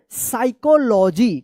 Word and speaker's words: psychology: साइकोलॉजी। क्या पढ़ेंगे? साइकोलॉजी। यहां पे P जो है ना साइलेंट है।